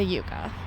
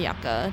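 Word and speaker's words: yucca: garden and that is the Yuka or the yaka depending on how you choose to pronounce that um so like this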